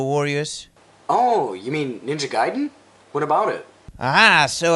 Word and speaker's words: Gaiden: Oh, you mean Ninja Gaiden?